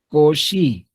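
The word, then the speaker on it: Cauchy: Cauchi, así, pero se pronuncia koshi.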